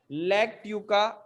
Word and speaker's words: Lactuca: Sir spelling NICOTIANA NICOTIANA Nicotiana TABACCUM। CUM ठीक है। एक नाम और लिखना बेटा, लैक्ट्यूका, LACTUCA, लैक्ट्यूका सटाइवा।